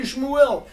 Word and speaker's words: Shmuel: Hey, Shmuel! That's a Samuel. Shmuel. Can you spell it again, please?